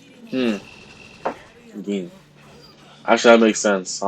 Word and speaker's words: Gin: Gin.